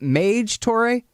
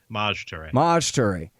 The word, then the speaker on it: Maj Toure: How do you say, is it Maj Toure? Maj Toure.